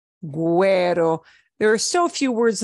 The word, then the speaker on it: güero: The U comes back and we do pronounce it pingüino, vergüenza, güero.